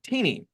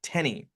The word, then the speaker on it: Teeny: Rogue Mist Walker um named uh teeny uh but he pronoun but he pronounces it Tenny and if anyone calls